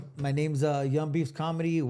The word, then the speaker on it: Young Beavz: My name's uh Young Beef's Comedy. Yu N beefs like a beaver.